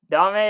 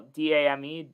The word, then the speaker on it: Dame: a better point guard domine or kyrie who's the first option maybe i said it wrong so i watched basketball d-a-m-e i said dame sorry i just pronounced